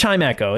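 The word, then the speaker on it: Chimecho: I always pronounced him Chimmy Chimmy Cho on our our psychic run, but it's Chimeo.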